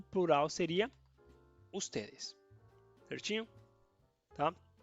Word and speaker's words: ustedes: Ustedes, tá? Preste atenção na pronúncia. Usted, ustedes, tá? Singular, segura esse D final e aqui pode falar um pouco mais o D e esse, tá bom?